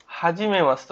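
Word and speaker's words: はじめまして: না ইয়ে অর্থ না ওকে তারপর হচ্ছে গিয়ে হা জি মে মাশি তে হাজিমে মাসতে অর্থ কি হাজি মে মাশিতে এইযে মে মাতে মাসিতে উচ্চারণটা হবে কি মাস্তে কি হবে এটা মাস্তে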